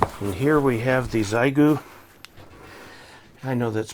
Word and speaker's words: Xiegu: big box aside and here we have the zaigu i know that's pronounced differently but it's an hf sdr transceiver